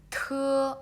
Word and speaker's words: 特: And this one is 特 Okay, so when you read the 特 and you can feel a strong brace coming out if you put your hands in front of your mouth.